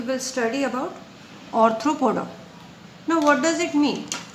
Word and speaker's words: Arthropoda: Ortho की spelling ARTHRO, usually बच्चे ऑर्थोपोडा करते हैं ARTHO, बट इट इज ऑर्थ्रोपोडा।